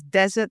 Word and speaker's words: desert: small little uh difference so one is Desert the other is dessert um so your the intonation is on the first e in the first case and on the second in the second case and also one has